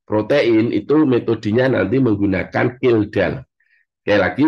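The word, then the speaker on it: Kjeldahl: itu metodenya nanti menggunakan kildal sekali lagi B protein analisis itu adalah untuk total protein ya total protein itu apa ee dianalisis menggunakan metode keldal tulisannya nanti kejeldal Tapi bacanya keldal Ya kemudian kalau amino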